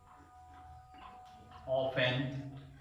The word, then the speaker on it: often: इसको फ्रेंड्स, इसका जो प्रोनाउंसिएशन होगा, इसको ऑफन, टी साइलेंट होता है, इसको ऑफन भी पढ़ते हैं बहुत से लोग और ऑफन भी पढ़ते हैं, दोनों तरह से इसको प्रोनाउंसिएट किया जा सकता है।